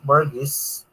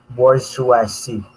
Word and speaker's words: bourgeoisie: somewhat related to the two large groups, petit bourgeois and underclass. Nahihirapan akong i-pronounce kung gagayahin ko talaga. Kasi, sang-ayon kay Google, kung siya ipopronounce, ayun na, mabagal ang internet. Bourgeoisie.